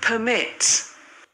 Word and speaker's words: permit: पहले हम वर्ड को प्रोनाउंस देखते हैं, उसके बाद फिर हम बात करते हैं। permit, permit, क्या दोनों में डिफरेंस फील हुआ?